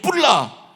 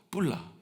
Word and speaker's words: 쁄라: 해시아 너는 나의 신부다 뿔라 이거 발음 잘해야 돼요 잘못하면 욕 같아요 시바 뿔라 예 너 나 넌